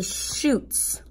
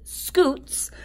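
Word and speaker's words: scutes: look again and see shoots I'm sorry you know what I pronounced that wrong I would have thought that that was nope it doesn't have an H it is scoots and I can look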